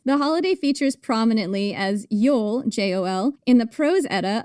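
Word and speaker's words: Jól: The holiday features prominently as Jol, J-O-L, in the Prose Edda, an Icelandic epic written down around 1220 AD.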